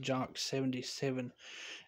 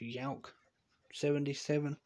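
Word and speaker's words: Jauch: I'm just going to say it, Jock 77. It's actually supposed to be pronounced Yauk 77.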